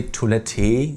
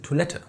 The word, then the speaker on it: Toilette: We don't really say toilette, we say toilette. The E kind of just loses its will and goes Toilette, Düne.